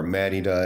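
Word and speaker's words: Mérida: black person here in Merida man or Meda if you want to be like fancy but or say it properly but went to Walmart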